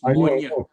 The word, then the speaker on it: Moine: Moine is the spelling. It's pronounced Monia.